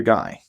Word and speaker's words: Guy: Is your name pronounced Gee or guy? It's guy. Okay. Guy just like the word. Yeah. Well, yeah. But I've seen people pronounce that when it's a name. Gee is more common.